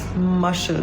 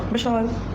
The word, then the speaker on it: Mashal: It's Mashal, not Mishal. Not Mishal. It's Mashal.